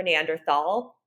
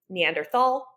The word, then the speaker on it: Neanderthal: exists to this day it's spelled with a th in it so if you an English speaker you would read that Neanderthal if you were just